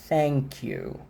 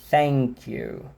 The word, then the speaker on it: thank you: Ele é esse TH que a garganta não vibra, que você sopra e que o som só é pronunciado depois.